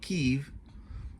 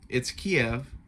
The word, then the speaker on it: Kiev: As much as they keep trying to call it Kyiv, it's Kiev. That's how it's pronounced.